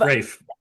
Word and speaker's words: Raph: We have the infamous Raph of Rafe. Rafe. Rafe. I was calling you Raph forever.